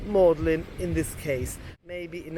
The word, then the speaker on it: Magdalene: But she came to me and said, no, it's called Magdalene. And Magdalene College is famous because it's got a very particular spelling compared to its pronunciation. So Magdalene is pronounced Magdalene in this case.